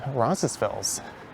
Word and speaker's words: Roncesvalles: So this is Roncesvalles. Often referred to as Roncy, and some don't pronounce the last S, they just say Roncesvalles.